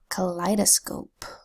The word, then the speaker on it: kaleidoscope: Kaleidoscope is spelled with a K that says K. An A that's making a schwa vowel sound, an L that says ul. The EI phonogram that's making a long I sound, I.